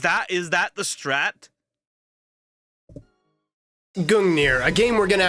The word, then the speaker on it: Gungnir: And I don't get it because Gungir is something so rare, even a Gungir. Gungir. So, it's Gungir.